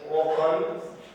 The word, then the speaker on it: often: Keywords every day, daily, sometime, ત્યાર પછી often, often નહીં હો, T is silent word, not often, often.